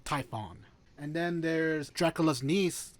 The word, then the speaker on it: Typhon: there's the witcher pride typhoon not to be confused with the 1990s movie twister hold on zero wishes i want to make sure you're pronouncing that right typhon fine typhon and then there's dracula's